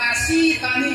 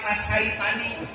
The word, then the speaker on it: nasitani: "Idza dzakartani syakartani, idza nasitani kafartani." Jika kamu berzikir kepadaku, ingat kepadaku, berarti kamu syukur kepadaku. Jika kamu lupa kepadaku, berarti kufur kepadaku, kata Allah. Jadi bacanya nasitani, bukan nasaitani. Jangan yang bacanya nasaitani.